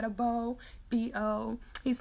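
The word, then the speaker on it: Beaux: B-E-A-U-X. Like, I always spell his name out instead of saying it's Beau.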